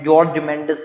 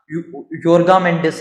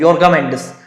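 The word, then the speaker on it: Jorge Mendes: उसमें पोर्तुगीज में नहीं कर पा रहा हूँ, पोर्तुगीज नाम है, जॉर्ज मेंडिस नहीं है उनका नाम, योर्गा मेंडिस है, योर्गा मेंडिस, जी हाँ, आई am getting it, योर्गा मेंडिस, फेबिजियो ऐसे ही कहता है ना।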